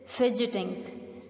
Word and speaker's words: fidget: third is fidgeting fidgeting remember student here is the silent B and G makes up some that is forgetting fidget fidgeting fidgeting means you pick